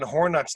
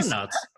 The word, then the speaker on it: hornets: There was a fucking hornet's nest in there that could have killed the entire neighborhood. Did you I'm say like, hornets? He made it rhyme with corn nuts.